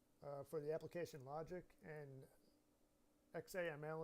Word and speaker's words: XAML: the application logic and XAML it's pronounced zamel for the declarative portion